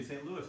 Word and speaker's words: St. Louis: It talks about St. Louis. We would say St. Louis, most of us, but in the song it's St. Louis because they wanted to rhyme with Missouri.